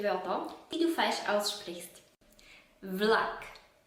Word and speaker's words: vlak: Vlak. Nicht Flak, sondern W.